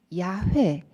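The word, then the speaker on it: יהוה: 알파벳으로 이렇게 쓰고요 그 히브리어로는 야외 야외 라고 하는데요 성경에는 여호와 라고 되어 있습니다 그러나 발음으로는 야외가 좀더 가까운 발음이 되겠습니다 아 이번에 우리가 새로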